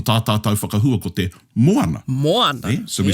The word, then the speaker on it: moana: So obviously, i Aotearoa nei ko tā tātou whakahua ko te moana. Moana. Yeah? So we stress the moana. The rest of the Pacific actually don't pronounce it that way.